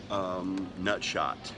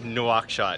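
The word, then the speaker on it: Nouakchott: Nutshot. Oh no, we're headed to Nutshot. Nuakshot, yes, in Mauritania.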